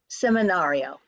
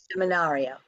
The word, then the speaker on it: seminario: getting them is to know which syllables to Accent the first word just has one syllable seminario so that's pretty easy say that seminar seminario and you can unmute